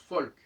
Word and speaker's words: Volk: Là, c'est pas si surprenant que ça, puisque le Vav, le V, se prononce aussi Feu, comme en allemand, par exemple, Volk, ça se prononce Folk.